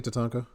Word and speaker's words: Tatanka: T, how do you say Tatanka?